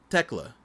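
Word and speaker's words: Thekla: Oh, take out the H. Techla.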